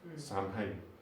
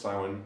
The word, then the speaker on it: Samhain: it as it's pronounced, as it says as it's spelt, Samhain.